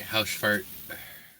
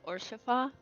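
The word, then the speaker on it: Haurchefant: not one to stand on formality all right house fart no good to meet you Mr horse fart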